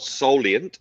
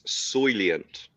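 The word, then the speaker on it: Soylent: It's not soleant, it's soylient. Starts with soil, not sol.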